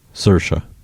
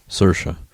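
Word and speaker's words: Saoirse: story which is fine I don't know how to say her first name sersa s what sersa like Ina but sersa really Ronin mhm really y'all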